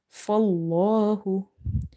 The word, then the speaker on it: فالله: So whenever you see the fatha before the latter lam in the word Allah, you have to make this lam heavy. Fallahu.